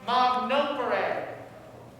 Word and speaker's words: magnopere: It's pronounced magnopere. Mag, M-A-G.